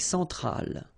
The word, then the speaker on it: centrale: L'Amérique centrale. Same thing here. Centrale, remember, E-N nasal, so it goes in your nose.